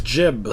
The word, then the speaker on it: Jeb: to make water landing his name's jib spelled with a B he's Jebediah Kerman okay you keep calling him Jim for some reason would